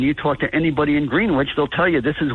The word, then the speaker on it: Greenwich: So they went to this quiet town called Greenwich in New Jersey, and they bought their tea there.